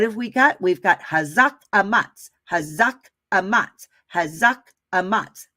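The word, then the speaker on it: חָזַק: It is pronounced hazak, right?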